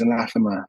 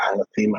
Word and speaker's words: anathema: say I say it the British pronunciation is anathema but I prefer anema because that's how the Europeans say it and I like the sound of it but it's where the